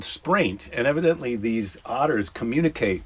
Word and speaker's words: spraint: Otter dung is called spraint. Spraint rhymes with. Spraint. okay, rhymes spraint. rhymes with what? Taint. Yes, it does rhyme with taint.